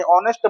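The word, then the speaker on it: honest: क्योंकि व्यंजन नहीं है क्योंकि आप इसका जब प्रोनाउंस करेंगे तो इसको क्या बोलेंगे? ऑनेस्ट बोलेंगे। तो ऑनेस्ट में ओ की ध्वनि आ रही है तो जो कि वोवेल है तो इसके अकॉर्डिंग इसमें एन आर्टिकल आएगा।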